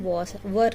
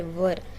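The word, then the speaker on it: were: Subject में दे, plural subject है यहाँ पे, इसीलिए हम वर ले रहे, ठीक है. वर क्या है, आर का पास्ट टेंस है वर. इसको WHERE वेर पढ़ते बाज़ स्टूडेंट, जो गलत है प्रोनाउंसिएशन.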